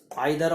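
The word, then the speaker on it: either: छांट बताने का वाले का मतलब ये है कि जैसे नाइदर नॉर, इसको नीदर नॉर भी कहते हैं, दोनों प्रोनाउंसिएशन सही है। अदरवाइज, आइदर और या ईदर और, ये आते हैं इसमें।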